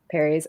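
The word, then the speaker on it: peri: that I'm still so confused about is it Perry's? Am I pronouncing that correctly? Yeah. Perry's.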